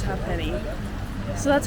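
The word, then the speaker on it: Ha'penny: peny bridge and uh other people say it hey Penny ha Penny it's spelled like this so you can understand why people are confused but the native Irishman that we had for our tour guide said it was half penny so that's that's how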